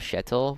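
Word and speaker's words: Kjetil: But then we also have Shettle, which is like it's it's spelled KJ E T I L. So I don't know why it's Shettle. But you know, Norwegians can do what they do.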